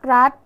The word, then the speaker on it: รัฐ: เป็น ตัว สะกด แต่ ออก เสียง พยัญชนะ ท้าย เหมือน ด เด็ก ดัง นั้น คำ ว่า